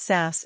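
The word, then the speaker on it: saß: sits in is SAS pronounce SAS s the sound is similar to the O in the English word bond it SAS ISAT theet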